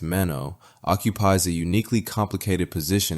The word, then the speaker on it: Manon: Manan Bannerman, pronounced Mano, occupies a uniquely complicated position in pop culture right now.